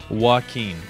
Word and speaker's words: Joaquin: Joe queen Jacqueline joke when Joe I would pronounce it Jack when jock win okay that's pretty close not really it is pronounced Joaquin so it's hurricane Joaquin all right now back